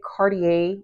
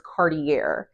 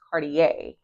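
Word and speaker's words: Cartier: And I don't even know if I'm saying Cardier right because I do believe the way I used to pronounce it, it was I used to pronounce it as Cardiier. And yeah, I realized I was not pronouncing it the right way. So, I do believe it's Cardier.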